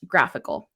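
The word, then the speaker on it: GraphiQL: tool which is called graphical it's not a typo it's graph i ql not graphql and it's pronounced graphical and this is an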